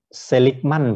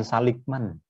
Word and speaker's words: Seligman: Seligman, bukan Saligman.